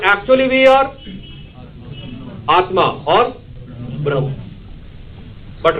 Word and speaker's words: Brahman: they refer it as brah written as Brahman pronounced as brah or Atma this is supreme reality according to